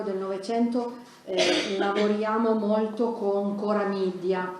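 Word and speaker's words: Chora Media: Noi al Polo del Novecento lavoriamo molto con Cora Media, si scrive CH ora Media.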